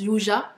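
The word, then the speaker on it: 유자: Du coup, donc yuza, donc on l'appelle yuza parce qu'en Corée, le yuzu se prononce yuja.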